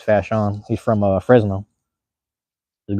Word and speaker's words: Fashawn: It looked like Fashawn the way it's spelled out, but it's Fashawn.